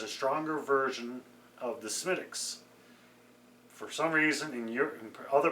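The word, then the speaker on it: Smithwick's: market it as a stronger version of the Smittix. For some reason, in other parts of Europe and in Canada, people had problems pronouncing the name Smittix. It's actually pronounced Smidwix, but my understanding is pronounced Smittix.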